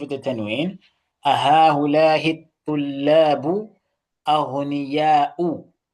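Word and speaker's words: أَغْنِيَاءُ: Why aghniya'un? I mean, why aghniya'u without the tanween? What's the reason behind that? It is mamnu min as-sarf. Okay, yes, that's a beautiful response from Brother Adam. Okay, so Sister Mutia, do you not know the answer? Yes. It is mamnu min as-sarf. It's a diptote.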